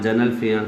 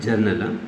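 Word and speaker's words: general: जनरल, इसको हम अक्सर जो मिसप्रोनाउंस करते हैं जर्नल, जनरल फलां, जनरल फलां, don't call it जर्नल, जनरल, जनरल।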